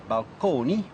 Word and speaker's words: balcony: So, balcony, still pronounced at that time in the Italian manner, balconi, as well as fresco,